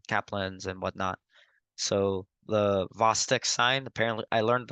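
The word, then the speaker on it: Chvostek: and whatnot so the vastic sign apparently I learned apparently the CH is silent so the vosic sign uh when someone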